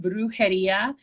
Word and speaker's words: Brujeria: um i have an etsy store um it's pronounced brujeria bags um and uh it's b-r-u-j-e-r-i-a bags and